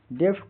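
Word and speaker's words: deaf: डी ई एफ डेफ़ यहां ए का उच्चारण ए छोटी ए की तरह होता है। अंत का एफ हल्की फ देता है। डेफ का हिंदी अर्थ बहरा जो सुन नहीं सकता।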